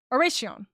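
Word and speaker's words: Oración: It's got Spanish roots. The C is pronounced with an S. So, Oracion.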